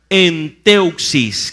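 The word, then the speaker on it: ἔντευξις: La palabra peticiones viene de un término griego, se pronuncia enteuxis con X.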